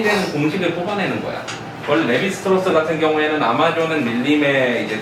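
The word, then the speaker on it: Lévi-Strauss: 리바이스라고 읽기도 하지. 리바이스 청발해야 되는 리바이스라고 있고, 레비스트로스 할 때는 레비라고 읽지.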